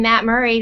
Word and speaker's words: Murrie: And here's your partner in crime, Matt Murrie.